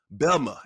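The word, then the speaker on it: Bessemer: say it right Unice BMA Alabama how we that's how we pronounce it down there it's not how it's spelled but it's how it sounds when you're from there it's belma we don't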